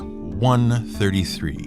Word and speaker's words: I.33: Let's leave you with the story of Fecht Book 133. And even though it is written as capital I.33, that's how it's pronounced. Fecht Book 133.